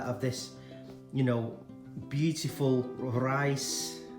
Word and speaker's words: Rais: this you know beautiful rice it's pronounced from Denmark super efficient